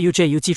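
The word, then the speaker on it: 车: But this car He doesn't pronounce CH He pronounces JUJU Remember? Ji Jinzhou turned his head suspiciously and asked Guan Yu You all read JU Guan Yu nodded without hesitation Since childhood, Chinese teachers have taught them The word "rook" in Chinese chess is a polyphonetic character.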